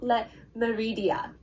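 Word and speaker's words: Le Méridien: It's called Hotel Le Meridia. I'm trying to pronounce it in the French way.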